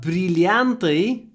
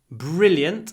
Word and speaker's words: brilliant: brilliant mind uh remember brilante is diamonds so we might say she looks brilliant in those diamonds uh and um brilliant and don't say brilant it's brilliant between the